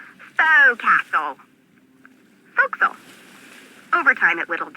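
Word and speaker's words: forecastle: ship but it's pronounced fil why is that try pronouncing it like an English sailor with no formal education F Castle folkl over time it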